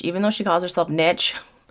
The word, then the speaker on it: Niche: I'm still going to call her Niche, even though she calls herself Niche. It's pronounced niche.